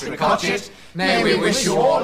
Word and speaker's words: Ricochet: Well, this is our final announcement tonight, so on behalf of all we Ricochet brothers and sisters, spelt Ricochet but pronounced Ricochet, may we wish you